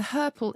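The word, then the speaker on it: hirple: the word purple spelt h-i-r-p-l-e it does rhyme with purple and to herpel is to limp and to walk with difficulty especially after a very very long walk i love it to her purple rhymes with purple that's why we are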